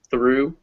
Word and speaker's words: through: them in colors so all the ones in yellow those ghs are silent so bao do thorough through they end in a